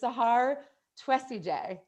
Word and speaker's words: Sahar Twesigye: you were in the Free Mama community that pronouncing names is important to me. So it's Sahar Twesigye.